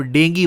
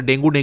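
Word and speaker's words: dengue: काम करते हैं ऑफ डेंगी वायरस। अच्छा, इसको लोग अक्सर डेंगू कहते हैं, तो डेंगू नहीं है, डेंगी है, इसका प्रोनाउंसिएशन डेंगी है।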